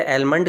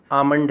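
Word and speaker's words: almond: इसे एलमंड कहा जाता है। जबकि इसका सही उच्चारण आमंड है।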